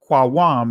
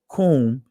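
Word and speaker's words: קום: We have to, Qawam is the ancient pronunciation of rise up. Kum is the Israeli pronunciation of it.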